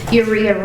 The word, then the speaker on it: Uriha: Judge, just briefly, so you guys pronounce the first name Uriha.